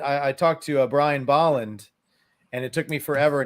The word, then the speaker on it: Bolland: it took me forever not to pronounce his name as Brian Boland which is how I read it for my entire 25 years of my life I just I just read it as Boland in it to find